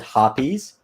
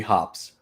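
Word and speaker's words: Hoppe's: you pronounce hops number nine so I've always pronounced it hoppies but I know it's supposed to be hops but what you can do is you can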